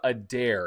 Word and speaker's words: Adair: And today I have on Sarah Adair. Is that how you pronounce that?